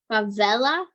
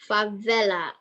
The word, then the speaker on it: favela: I don't know how you pronounce it. Favela? She spelled it as F-A-V-A-L-A. It might be with an E though. Favela.